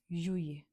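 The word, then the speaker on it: juillet: July is called जुए। अब spelling में आपको दिख रहा है यहाँ पर डबल एल है, बट मैं इसको बोल क्या रही हूँ जूए।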